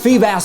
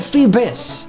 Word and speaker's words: Feebas: on Milotic Phoebus so I know I'm aware guys that it's pronounced fee bass and that he's a Feebas but when the love of my life pronounces it phoebis that becomes music to